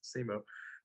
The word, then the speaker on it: Simu: yeah, Is it's that, just how it's spelled. It's Simu.